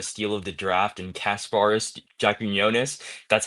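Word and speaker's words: Kasparas Jakučionis: for getting the steal of the draft and Kasparis Jaquinionis. That's how you pronounce his name.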